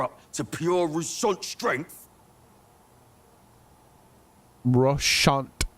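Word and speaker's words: Roussainte: Russant is how they pronounce all those damn letters. There's no need to spell it that way.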